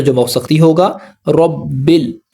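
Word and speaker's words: رَبِّ الْ: रबिल ब को लाम से मिलाएंगे। अलिफ यहां पर साइलेंट है।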